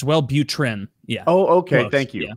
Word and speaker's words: Wellbutrin: salad I want yours well-beauten well button is the hot chick drug it's the one all the girls right am I pronouncing it wrong what am I saying uh you said well it's Wellbutrin yeah oh okay thank